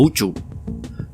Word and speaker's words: Usu: constelación Draco la cual se llama usu pronunciado correctamente como uchu pero numerosos conflictos que